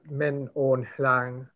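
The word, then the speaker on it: Min Aung: person and they said that they thought that min on that's how you say it that the reason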